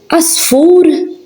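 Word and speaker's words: għasfur: Ein in the beginning of a word is silent. For example, we have ar, that means cave, ar. Elii, fields. Oli, which means high. Asfur, bird.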